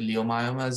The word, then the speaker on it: leiomyomas: about leiomyosarcomas or leiomyomas, which is the proper pronouncing is leiomyomas, but it's written as L-E-I-O. So I pronounce it leiomyomas.